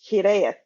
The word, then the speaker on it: hiraeth: This is a Welsh word. It is pronounced Hiraeth. And Hiraeth.